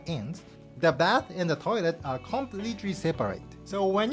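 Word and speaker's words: トイレ: In Japanese pronunciation, the final T is not pronounced.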